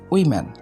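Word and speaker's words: woman: এটাকে আমরা উচ্চারণ করি ওমেন। সবাই প্রায় বলি আমরা ওমেন, সবাই ম্যাক্সিমামরা এটা বলে ওমেন। তো যাই হোক, এটা আমরা এখন সঠিক উচ্চারণ করব। এটা সঠিক উচ্চারণ হবে উইম্যান।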